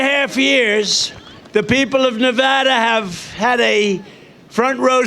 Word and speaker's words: Nevada: we love it and you always have to say it correctly Nevada you Ain got a